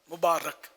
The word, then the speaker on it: مبارک: شادی مبارک, مبارک ہو, تو یہ را کے نیچے زیر نہیں, را کے اوپر زبر ہے, مبارک.